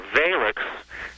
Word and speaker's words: Valix: And a Valix, this was spelled V-A-I-L-X, and the LX sound at the end sort of had a lick sound.